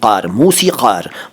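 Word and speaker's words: मौसीक़ार: इसके बाद 'मौसिकर', 'कर' नहीं , 'मौसिकर'। मौसिकर का अर्थ है संगीतकार, लेकिन पुरुष संगीतकार और एकवचन। तो इसका उदाहरण यह है: एक मौसिकर सज्जन वहां बैठे हैं।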